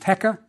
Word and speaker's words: heka: First the crook pronounced heka means ruler.